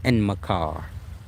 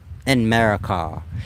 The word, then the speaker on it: Enmerkar: I guess y'all pronounce it Enmerkar, but it's like America. Enmerkar.